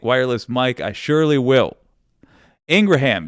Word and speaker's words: Ingraham: Ingraham, yes, apparently that is how you say, I've been saying Laura Ingraham, but apparently, according to her brother, that is how you say the last name.